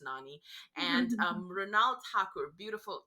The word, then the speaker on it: Nani: that way but I know his name is pronounced Nani and um Renault hacker beautiful talented actress renal